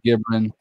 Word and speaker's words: Gibran: Okay, hey, their name is pronounced. Yeah, you got me. I'm in Texas. It's called Gibran.